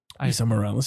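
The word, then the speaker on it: Esai Morales: Like Isai Morales. Isa Morales, yeah. I made sure I looked up how to say his name.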